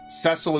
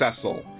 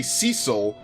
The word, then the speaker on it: Cecil: a delicate Beauty with an Exquisite voice ooh cesil is pronounced cesil that's from the DS version yes I used to say Cecil it's pronounced cesil I can 100% confirm that